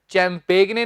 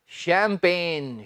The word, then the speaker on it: champagne: चैंपेगने नहीं बोल देना, क्या है ये? शैंपेन, शैंपेन।